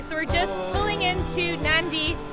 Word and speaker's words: Nadi: we're just pulling into nandi it's spelled n-a-d-i like Nadi but they pronounce it nandi and this is the